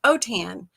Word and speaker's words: Autin: My husband's Cajun French. That's why Autin is pronounced Otan, like Otan my hide.